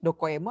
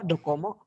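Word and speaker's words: どこへも: Bacanya gimana sih? Dokoemo apa dokomo? Dokoemo. Dokoemo. Ada e di Dokoemo.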